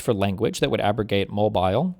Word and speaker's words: Mobile: new vote dilution test based on white It's pronounced Mobile.